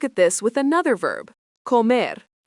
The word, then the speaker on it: comer: Let's look at this with another verb, comer, pronounced co-mer, means to eat.